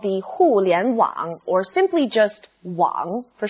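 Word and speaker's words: 互联网: overview the internet in chinese is called the hulian wang or simply just wang for short it means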